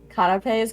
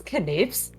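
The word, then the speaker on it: canapés: can i just say i didn't understand what you were saying when you said uh kanapes because i always pronounce them as canvas oh no gimme a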